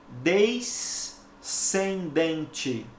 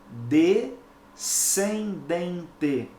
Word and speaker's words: descendente: som o fonema e eu não posso pronunciar desde sem dente porque porque s&c juntos só reproduzem um som então eu tenho que pronunciar corretamente de sem dente compreendeu ocorre algo semelhante